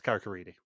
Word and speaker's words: Carrick-a-Rede: They do actually say it correctly, which is very rare in Vidum with anything sort of English language, but yeah, it's Carrick-a-Rede.